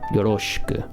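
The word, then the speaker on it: よろしく: Listen, I'm not saying shi, yoroshiku. I'm saying yoroshiku. Right? Remember, that's more natural pronunciation.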